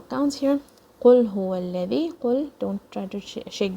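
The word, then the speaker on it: الذي: Qul huwa alladhi, and don't say it with a buzz, with a strong buzz like this. Qul huwa allazi, don't say it like that.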